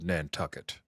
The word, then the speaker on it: Nantucket: We're going to Nantucket. Mm-hmm. Because it rhymes with bucket.